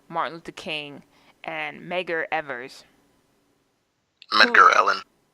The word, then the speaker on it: Evers: it's not it's not Ellen. Maybe I'm wrong. It's definitely Medgar, but I thought it was Evers, but there was a V in there. So fact check us. Or we could be saying it wrong. But Oh no, you're right. It's Evers.